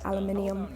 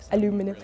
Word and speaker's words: aluminium: if you're making Alum I always laugh at the way Americans say aluminium aluminum you've made American pancakes